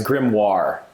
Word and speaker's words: grimoire: what's your profile picture oh no sorry i pronounced it right it's grimoire gremlin okay a book of magic spells and